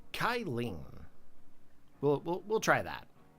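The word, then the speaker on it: Cyllene: may call me kylen or kylen I feel like that C is pronounced a k kyen we'll we'll we'll try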